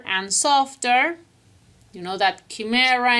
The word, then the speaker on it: chimera: softer you know that chimera in English is pronounced like character CH without a Chaka